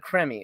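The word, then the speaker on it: Krimi: The the creamy films, the K not creamy as in the ones that Malcolm buys, but K R I M I. Um uh I recently recently got Creme that's a better way to pronounce it.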